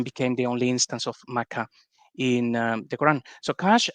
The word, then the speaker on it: Makkah: this whole thing about yeah sure it's a t but we pronounce it as an h and it's like okay